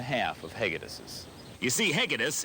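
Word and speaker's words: Hegedűs: of hegades you see hegedis is a hungarian name hegedouch is the local pronunciation with a name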